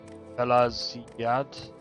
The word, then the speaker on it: Pelagiad: Pelaziad. That's how you pronounce it, Pelaziad. But that's G. It's got a G in it.